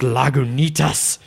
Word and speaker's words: Lagunitas: a lag tinnitus IPA it's pronounced Lagunitas and and then like